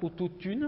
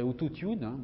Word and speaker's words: autotune: Autotune, alors il le prononce comme ça, autotune, vous voyez, il y a la prononciation ici. Là, c'est un calque de l'anglais. Enfin, c'est un emprunt même, autotune, qu'on prononce en français, autotune.